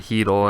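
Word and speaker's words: Chytil: look at phillip heatle and yes it is pronounced keadle i know it's a pretty strange one but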